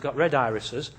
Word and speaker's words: RedIRIS: If you see that, just for those of you that know how to read Spanish, here what we have is never pronounce it red iris.